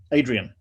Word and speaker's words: Adrian: easy to do but i think i did mispronounce your first name do you go by adrian or adrian adrian that is adrian yeah so i just naturally